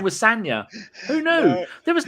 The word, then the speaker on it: Sagna: Until after Bakary Sanya left, I always called him Sagna. I didn't even know his name was Sanya.